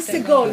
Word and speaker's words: Segol: that's, it's, it was Segol. segol, because it's the last syllable. There's only two syllables.